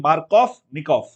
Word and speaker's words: Markovnikov: Germans, they pronounce V as F. Hence, I'm saying Markovnikov.